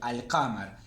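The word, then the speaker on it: القمر: Este es un artículo lunar, por eso la L la pronuncio, al-qamar.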